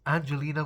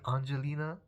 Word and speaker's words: Angelina: It's Angelina with a hard G. I don't know if I'm pronouncing it correctly. Angelina. I think that's how you pronounce it.